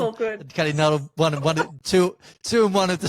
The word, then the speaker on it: Nuttall: Nellie Cuddle, Kellie Nuttall. Nellie Cuddle. It's all good. Kellie Nuttall, two and one of the same.